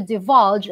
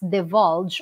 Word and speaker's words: divulge: when we say to divulge that can be pronounced as the vulge or divulge wedding short eye padding long eye acceptable to divulge something about